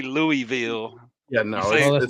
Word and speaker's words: Louisville: No, it's Louisville. Yeah, you got to roll it. Say it with your chest. Sorry. It's like knowledge. Go ahead, Mr. Louisville.